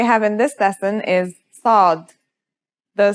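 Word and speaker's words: ص: in this lesson is sod the sod is basically the strong version of the scene we learned in the last lesson and it kind of sounds like the s in the word saw this sound is pronounced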